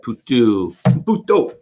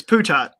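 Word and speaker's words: Putot: Brettville, as David has given us permission to pronounce. The attack on Norey and Bassin, Brettville, and Puto. I should just stop. It's just Putat. It's Putat.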